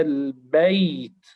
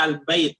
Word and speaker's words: البيت: Seperti kita membaca al-bait, tetap kita perjelas ya-nya. Al-bait, al-bait. Tapi karena sebagian tadi ada yang membaca al-bait, jadi ya-nya tidak jelas.